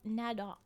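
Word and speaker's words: Nedoq: the archive of Nadok. N E D O Q. That's how I'll be pronouncing it as we go along.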